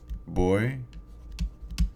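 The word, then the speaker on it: voy: formula so we have boy boss ba now remember that this v here is pronounced like the b as in boy okay it's not pronounced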